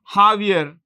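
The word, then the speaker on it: Javier: jaier I told you in Spanish you don't pronounce j with as a j it's h jaier Millie aier Millie Bolivia Louis Archie Louis Archie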